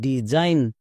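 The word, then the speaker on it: design: আই জি N Zain D Zain আবার এখানে দেখো এস এর দুপাশে দুটো ভাওয়েল আছে তার মানে এস এর জন্য বর্গীয়জ হবে যেমন ডি ই ডি এস এর জন্য বর্গীয়জ প্লাস আই ডিজাইন চলো তাহলে কেমন শিখলা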